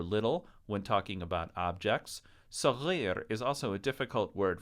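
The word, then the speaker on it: صغير: It doesn't have an extra R in it. It's not sagrir or sarir. It's sagir, which is hard for Americans to pronounce right at the beginning.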